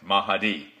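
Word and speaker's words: Mahdi: himself the mahi uh I may not pronounce it it's m-a-h-d-i mahadi mahadi that's okay that's the way it's pronounced mahadi uh and and the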